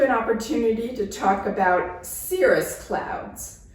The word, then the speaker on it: cirrus: It gives you an opportunity to talk about cirrus clouds, where the C, instead of saying k, says s, like an S.